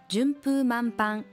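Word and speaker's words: 順風満帆: と言った順風満帆物事が極めて順調に進んでいる様プーとパンの読み方に注意です彼らは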